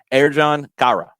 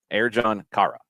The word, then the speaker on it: Ercan Kara: And the pronunciation that Orlando has given us, thank you, Orlando City, for putting this in your press release, Ercan Kara. Ercan Kara.